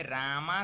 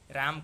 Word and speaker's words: राम: राम को रामा बोल देते हैं, बुद्ध को बुद्धा, अशोक को अशोका, ऐसा उच्चारण बिल्कुल न करना है, न ही लिखना है। राम को हम राम ही कहेंगे, बुद्ध को बुद्ध कहेंगे, अशोक को अशोक कहेंगे।